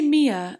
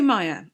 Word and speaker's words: Maya: mindless so true Maya did I say Mia earlier because M A but then it's actually spelled like Maya here I'm going to say Maya okay Maya wants you